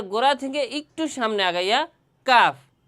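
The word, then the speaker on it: كاف: আগে আমরা calf mosque করি এরপরে আবার বলব কাফের মাখরাজ বলছিলাম জিহ্বার গোড়া থেকে একটু আগাইয়া কাফ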